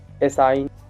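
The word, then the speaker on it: assign: तो एन से पहले, एन से पहले जी हो तो जी शांत रहता है। जैसे साइन, रैन, फैन, एसाइन।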